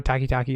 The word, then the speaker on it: Takitaki: i say that name right but i know takitaki is the correct way to say that last